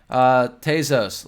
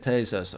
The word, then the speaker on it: Tezos: Let's look at Tezos. Or no, it's pronounced Tezos. I did the free Coinbase like video tutorial with the lady, and she explained to me it was Tez and Tezos.